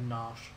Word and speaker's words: Narshe: It's always pronounced that as Nash.